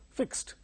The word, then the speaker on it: fixed: other than T therefore the past tense Mark Y is pronounced as T fixed in English word stress